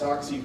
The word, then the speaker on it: Sasche: Two Rivers native, and the last name is pronounced Soxy.